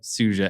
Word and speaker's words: Suja: And that's So it's Suja. like, it's 2 years. Is that how you say it? Yep, Suja, S-U-J-A.